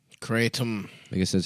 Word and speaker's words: Kratom: Kratom is pronounced Kraytum. Kratom.